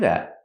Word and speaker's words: that: to do that and the te in that is a stop te not that but that that I was just